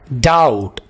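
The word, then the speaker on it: doubt: butter and jelly sandwich डाउट शक बी को यहां पर साइलेंट रखें डाउट आई हैव डाउट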